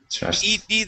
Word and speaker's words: trusted: So the only two times when you can pronounce an id sound is if the word ends with a T. So for example, trust. Okay, trust. All right. Trust. ED there. Okay, that would be trusted.